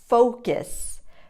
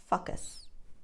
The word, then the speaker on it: focus: careful of this one focus focus and not focus no what students often do when they mispronounce this word is to make the first vowel sound but you really need to round your lips foe focus to pronounce